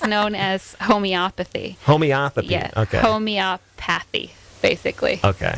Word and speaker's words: homeopathy: as Homeopathy Homeopathy okay Homeopathy basically okay it's like photography but not quite so it's home Homeopathy